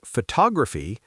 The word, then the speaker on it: photography: But the word photography, the stress shifts. Photography. It's now on the second syllable. Tog.